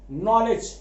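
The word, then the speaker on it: knowledge: अब यहां के साइलेंट है 100%, लेकिन जो साउंड आ रहा है वो न का आ रहा है, त थ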